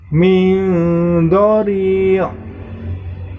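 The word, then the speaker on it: من ضريع: Di situ terdapat nun sukun bertemu dengan huruf dho, maka itu termasuk hukum bacaan ikhfa. Maka cara membacanya, nun sukunnya dibaca samar, min dhari', seperti itu.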